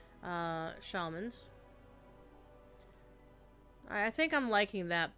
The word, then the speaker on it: shaman: Resto, of course, is the healing shaman. Alright. And any of you who pronounces it shaman are wrong.